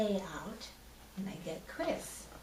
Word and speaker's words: Crisse: years and of course some people see it and they say oh you're Chrissy and I say no it's just pronounced Chris I guess now would